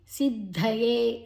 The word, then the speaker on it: ಸಿದ್ಧಯೇ: ದ್ಯತತಿದ ಮತ್ತೆ ಯ ತತಿ ಸಿದ್ಧಯೇ ಸಿದ್ಧಯೇ ಅಲ್ಪಪ್ರಾಣ ದ ಅಡಿವತ್ತು ಮಹಾಪ್ರಾಣ ಸಿದ್ಧಯೇ ದೀರ್ಘ ಯತತಾಮಪಿ ತ ದೀರ್ಘ ಸಿದ್ಧಾನ